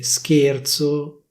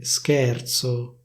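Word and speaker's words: scherzo: Instead of saying /schérzo/, they say /schèrzo/, /schèrzo/.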